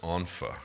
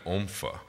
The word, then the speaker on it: ONPHA: throughout the entire speech i mispronounced anfa and i kept calling it ompha and so i think